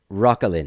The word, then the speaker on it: Roquelin: Roquelin.